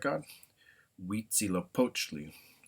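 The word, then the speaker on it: Huitzilopochtli: So uh one word I will do here to finish the slide is uh the the god of uh the main Aztec godzy poachi is how you would say that.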